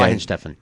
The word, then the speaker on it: Weihenstephan: Say- Weihenstephan. Weihenstephan Hefeweizen. I There don't you think go. that's a pronunciation.